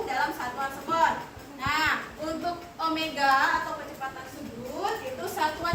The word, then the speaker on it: omega: atau disebut Omega ya jadi lombangnya memang kayak W cuman bacanya Omega Nah kita lihat pengertiannya